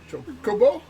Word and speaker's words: Chocobo: Chocobo? Chocobo. Well, in Japanese, I understand that intonation is normally level, so it'd be chocobo. Very fast.